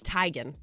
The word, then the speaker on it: Teigen: with musicians maybe it is Chrissy Teigen is tygan Chrissy Teigen I don't care what happens with